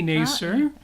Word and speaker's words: Nasir: By the way, it is indeed pronounced Nasir. Mm-hmm. Sounds kind of negative. Maybe we should change it to yes, sir.